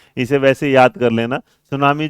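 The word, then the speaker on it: tsunami: सुनामी जो होगा वो किसके साथ है ना, टी साइलेंट रहता है इसमें भी।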